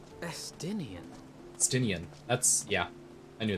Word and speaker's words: Estinian: Estein? Estinian.